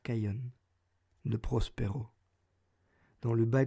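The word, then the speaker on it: Khayon: histoire ainsi soit il mon nom est qu'aion nous prospérons dans le bas gothique des plaines de l'oral sur terra se prononcerait c'est et qu'aion ce prix serait kane l'état au samsung le connaissent sous le nom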